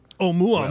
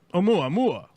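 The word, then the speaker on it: ʻOumuamua: Are you having trouble pronouncing the name of the mysterious interstellar object, Oumuamua? Oumuamua. Well, you're not alone. Okay, there we go. Oumuamua.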